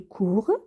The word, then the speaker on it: courent: je cours elle ils courent nous courons vous courrez elle il court le ent ne se prononcent pas et quand vous voyez